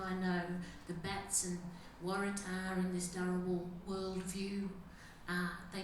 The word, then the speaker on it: Waratah: Waratah is the proper way to say it.